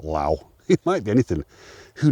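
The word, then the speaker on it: Lough: That's Crag Luff. I think it's pronounced Luff, not Low.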